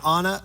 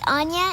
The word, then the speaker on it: Anya: No, I actually usually leave apple cider and it's pronounced Anya. It's Gaelish. It's Gaelish.